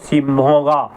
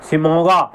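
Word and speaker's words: Shimoga: और सिमगा सिमोगा े शायद मेरा गलत हो सकता है थोड़ा बहुत लेकिन डी ए वी ए एन ए जी ई आर ई दवांगे दवांगे अगर मैं सही बोल रहा हूं उच्चारण सही कर रहा हूं और सिमोगा सिमोगा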